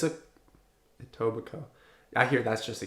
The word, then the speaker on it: Etobicoke: Etobicoke?